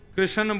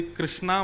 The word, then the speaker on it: कृष्ण: लाल की जय बंधुओ कई लोग इस नाम को अशुद्ध बोलते हैं कई लोग कृष्ण बोलते हैं कई लोग कृष्ण बोलते हैं कोई कृष्णा बोलता है भगवान का नाम शुद्ध उच्चारण करो नाम क्या है कृष्ण भगवान जय श्री कृष्ण कृष्ण